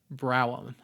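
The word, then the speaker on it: Brougham: Now we see Kananga's car, which is a Cadillac Fleetwood 60 special brow. Did I say it right? Broome.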